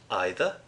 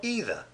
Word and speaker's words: either: daily dose of English either can be pronounced in two ways you can either say either or either doesn't much matter another